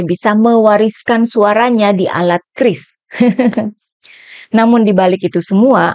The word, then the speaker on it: QRIS: Cara membaca QRIS yang benar itu gimana? Biasanya saya bilangnya itu curies, ternyata yang benar itu bacanya Kris.